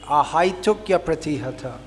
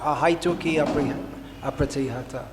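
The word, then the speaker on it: ahaituky apratihatā: It should be ahaitukya pratihata, not ahaituki apratihata. It in Sanskrit, the vowel I coming before the vowel changes to ya.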